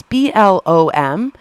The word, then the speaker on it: Blom: I think that's how you say his name. It's Blom.